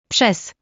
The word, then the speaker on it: przez: Combining R and Z is like the S in measure. An example would be the word through, which is pronounced. Przez.